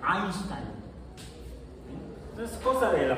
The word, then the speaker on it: Einstein: Como el diptongo EI se pronuncia AI. Por eso a don Alberto, toda la gente, bueno, mucha gente no le dice Albert Einstein, sino le dicen Albert Einstein.